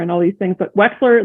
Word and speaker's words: Wechsler: Most people call us Wechsler and Wechsler and all these things, but Wechsler, like an X, is correct.